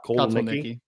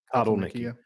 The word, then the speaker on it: Kotelnicki: Kotelnicki. Kotelnicki.